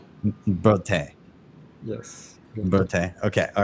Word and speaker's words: Burtey: Burtey. Burtey. Yes. Burtey.